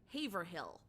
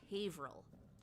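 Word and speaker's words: Haverhill: It is Worcester or like some people pronounce things like Haverh Hill. No, that's Haveril or Glchester.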